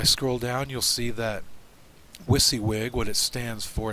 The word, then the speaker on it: WYSIWYG: down you'll see that wisy wig what it stands for it's an acronym for what you see is what you get pronounced wizzywig and what it does